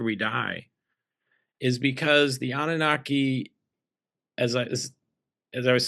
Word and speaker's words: Anunnaki: If anybody didn't know about the Anunnakis, did I pronounce it correctly? The Anunnaki.